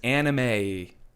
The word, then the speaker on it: anime: email from gfuel that it is Anime but may is spelled ma y like the month so we're talking anime